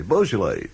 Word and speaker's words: Beaujolais: so it would say beaujolais and then afterwards it would say b.o.w little line j-o-l-l-y bull jolly kind of thing you know and it